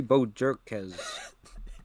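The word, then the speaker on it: Bojorquez: a really good kicker oh I got the pronunciation right here Corey Bo jerkz JZ all right yeah he's pretty good but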